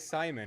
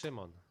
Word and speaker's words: Szymon: It was like, I mean, it's like Simon or some Well, type of Simon, right? Well, you're close enough, yeah, It's- but I don't. it's Szymon. That's how you say it in Poland.